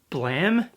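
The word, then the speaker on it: BLAME!: I call it Blame because it's spelt like blame, but apparently I'm saying it wrong and it's called Blam. Some people are calling this series Blam. Is that right? Blam? It's nice.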